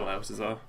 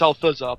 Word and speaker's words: Althuzar: Sorry, I can't pronounce THs at all, Altazar. Oh dear. I keep getting my name wrong. It's Altazar, isn't it? Well, it's Althuzar, but Oh, is it Althuzar?